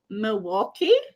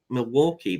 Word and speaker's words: Milwaukee: I thought there was an L before the K, before like the Milwaukee, but it's just the way they say it.